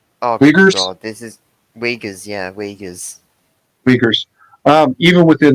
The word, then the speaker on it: Uyghurs: Can you pronounce the word for me, please? Oh Uyghurs? god, this is Uyghurs, yeah, Uyghurs.